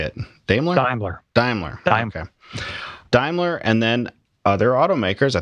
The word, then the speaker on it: Daimler: do you say it dler dler diimler okay Daimler and then other automakers I think Volkswagen maybe